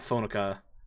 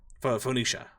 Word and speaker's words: Phoenicia: Yeah, I'm just trying I'm blanking on how to pronounce her name cuz it's not not Phonica. It's uh Phoenicia.